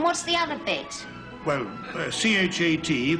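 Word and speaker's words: chat: Well, C-H-A-T, pronounced cha, means, Oh, I know what that means.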